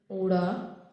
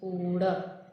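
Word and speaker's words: ਊੜਾ: Let's watch first letter of the Gurmukhi, that is Uda. The pronunciation of this word I written in English as O-O-R-A, that is Uda, and two alphabet shows that it can be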